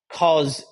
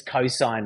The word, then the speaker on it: cosine: So you know that sin is not pronounced sin, it's sine, S-I-N-E, and that cos is not cos, it's cosine, right?